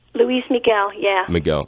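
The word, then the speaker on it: Luis Miguel: Grammy Louise MIG well is that how you pronounce his name Louise Miguel yeah we go Louise Miguel that's pretty cool it was very young at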